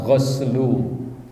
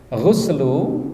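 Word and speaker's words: غسل: Al-ghuslu, ya, al-ghuslu yang dinamakan ghuslu, ya, ini bisa bacanya ghuslu, bisa ghuslu, dua-duanya benar dan boleh, ya. Ghuslu, ya, maknahu al-ghuslu lughatan,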